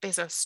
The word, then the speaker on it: Bezos: Yep, Bezos.